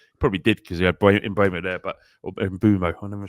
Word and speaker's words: Mbeumo: Probably did because he had Mbeumo there, or Mbeumo. I'm never sure how to pronounce his name. Is it Mbeumo?